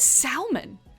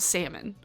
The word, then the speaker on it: salmon: People who knowingly pronounce the L in salmon? Who says salmon? Literally nobody here says salmon. Maybe because we actually have salmon.